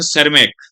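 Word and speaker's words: Tschermak: और एक थे एरिक वेन सरमैक। उसको सरमैक बोला जाता है बेटा, टी एस से शुरुआत है, टी साइलेंट है, सरमैक।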